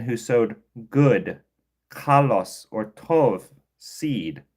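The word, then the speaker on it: טוב: But in the Hebrew, it's going to be this tov, right? It's going to look like tob, but you're going to pronounce tov, right?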